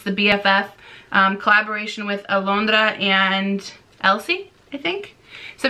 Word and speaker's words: Alondra: funny is alondra nope how do you say it in english alondra alondra is actually my sister's middle name i can't that just feels weird alondra i can't not say it with a spanish accent anyways so we're